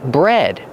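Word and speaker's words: bred: Bread. Pronunciation. Use a short e like head and red. Bread. Just like the bread you eat, but it's spelled differently.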